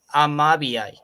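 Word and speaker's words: Amabie: is called uh wait a minute it's called amabiai how do you spell it a-m-a-b-i-e b-b-b-i-e b-i-o yeah yeah it was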